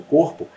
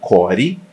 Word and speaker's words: core: muito movimento do teu corpo e falam para você você tem que manter o teu cor na verdade se fala que Core né voltando a questão